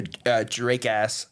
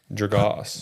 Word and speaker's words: Dragos: Anyways, going to Matthew Draass. Is that how you pronounce that? Dragos. Dragos. I I really emphasized the as at the end.